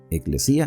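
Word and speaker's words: ἐκκλησία: Aquí está la palabra griega, eclesía, así se pronuncia.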